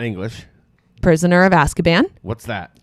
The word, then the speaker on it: Azkaban: Asparcam? So Azkaban.